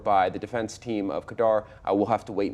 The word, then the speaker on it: Khadr: a little tangent here you keep calling him Kadar and I call him cter what's the difference in the pronunciation uh I think it's just largely a my mother's actually from Afghanistan that's how she pronounces it that's okay so maybe we're putting a Canadian kind of expression on or a Canadian pronunciation on it I may well put